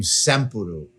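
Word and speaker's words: サンプル: Japan which has a the name samuru I think that's the correct pronunciation Sam s m p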